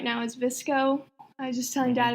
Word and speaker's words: VSCO: And then my other one is right now is Visco. I was just telling Dad about that one, and it's another. Spell it though.